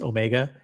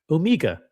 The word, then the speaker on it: Omega: All the breaking news on Omega, which by the way, that's how it's pronounced, Omega. Except if you're James Bond and he pronounces it Omega.